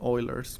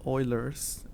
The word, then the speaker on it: Euler: I'm speaking in English, I have the tendency of call it EU, but because I took German, I took 4 years of German, then I know it's oi. You pronounce that as oi, EU. So yeah, you pronounce oi.